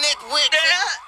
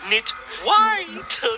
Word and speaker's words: Nitwhite: I am ready, Dr. Nitwit. White. Knit white, not the other thing.